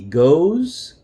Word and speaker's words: goes: s we add es even though the e is silent one more time I